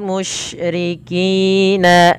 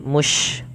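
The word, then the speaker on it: مشركين: Jangan dibaca musyrikin, tapi dia musy. Bagaimana pelafalnya? Sya. Sya ya. Dia bibi apa? Usahakan kita coba rapatkan giginya.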